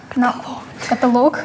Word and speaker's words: каталог: Ударение на букву Е. Каталог на О.